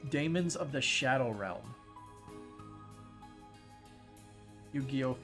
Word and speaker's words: daemons: It's like, it's basically like daemons, where D-A-Y in terms of pronunciation.